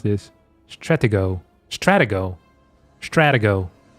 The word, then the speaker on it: Stratego: Stratigo. Stratiggo. In Dutch is stratego. So, I tried to copy that with an American accent.